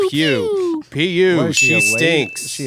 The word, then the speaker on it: Pugh: Yeah, you said it right there. Pugh.